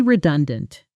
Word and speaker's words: redundant: The stress is on the second syllable. Re-dun-dant, not re-dun-dant. Say it slowly first. Re- dun- dant. Now say it at natural speed with the stress landing hard in the middle.